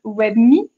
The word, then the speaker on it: WebMii: Donc, vous avez par exemple WebMe, qui s'écrit WEBMII.